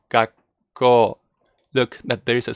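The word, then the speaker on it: 学校: It's basically like you make a silent gap, as Lynn said, gakko.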